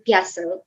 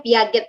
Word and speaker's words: Piaget: seorang ahli namanya John piase tulisannya Piaget Ya sebagian mahasiswa saya tuh bilangnya Piaget padahal udah berkali-kali saya kasih tahu ini bacanya bukan Piaget tapi biasa tapi masih juga